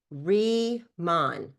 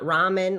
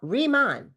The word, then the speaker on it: Riman: Remon, not ramen, like ramen noodles. Re re ramen. People say it wrong. Reman, like rebirth, rethink, re-imagine, redefine. You see how it all makes sense? You see the re right there?